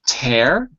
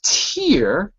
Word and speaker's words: tear: r has two pronunciations there's tear just like the air you breathe air tear oops the air you breathe you'll see that in the chat window and then there's tear like drink a beer